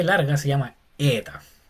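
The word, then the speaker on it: ἦτα: Entonces esta e larga se llama ETA. Es un pronuncia como una e larga, básicamente. Eta.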